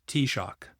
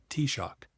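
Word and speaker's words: Taoiseach: We launched Black Dublin in the long library at Trinity University with the Irish T-shock, prime minister pronounced as T-shock, and prominent ministers.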